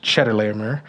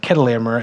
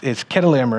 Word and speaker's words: Chedorlaomer: It's not actually pronounced Chedorlaomer. It's pronounced Chedorlaomer, and we know that because most other historical records of this type of name, it's with a K instead of a CH, right? So it's Chedorlaomer, and he, like I